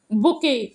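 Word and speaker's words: bouquet: तो उसको बोलते हैं बुके बी ओ यू क्यू यू ई टी तो ईटी इसमें साइलेंट रहती है इसको बोलते बुके गुलदस्ता हाउस और शेल्टर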